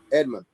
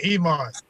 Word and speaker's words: Eamon: Edmund, you still there? Mr. Are you talking about me? You mean Eamon? No, I got his name wrong.